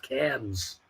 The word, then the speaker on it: Cairns: and Cairns is pronounced cans they like to ignore the RS uh there you go